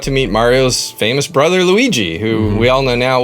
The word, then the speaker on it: Luigi: meet Mario's famous brother Luigi, who we all know now. What's funny is, since I was younger and didn't have all my pronunciations figured out, I thought his name was Lugi.